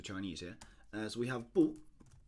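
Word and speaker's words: 不: And usually, typically it'd be spelled with or it'd be written out, or it'd be pronounced with a fourth tone. But if there are two fourth tones right next to each other, for instance, we have bu shi, then this sounds very awkward.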